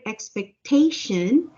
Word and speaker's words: expectation: a difference right now when you say the word expectation the accent is on the third syllable ex expectation can you